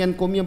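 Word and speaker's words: encomium: Is called Singh एनकोमियम, MIUM, सिंग एनकोमियम पढ़ा जाएगा।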